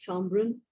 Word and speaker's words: Schönbrunn: Schönbrunn.